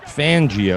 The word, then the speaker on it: Fangio: I say his name Vic fangio it's pretty straightforward the fan should make it pretty easy I mean you're Italian he's Italian seems but that would that